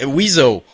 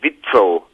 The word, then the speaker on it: WIZO: French we all say weasel Ah that's awesome you know we we you know in German if you would if you would pronounce weasel the right way in German that you would say vitro and we always talk